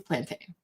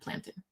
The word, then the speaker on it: plantain: It's plantain, not plantin. It's plantain.